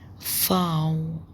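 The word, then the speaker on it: Vau: او فاو فاو. الفي مفيش بقى، ما اسمهاش في بقى، اسمها بتنطق ف. فاو اسمها فاو بتنطق ف.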